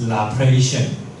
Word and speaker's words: Laplacian: The pronunciation is Laplacian equation.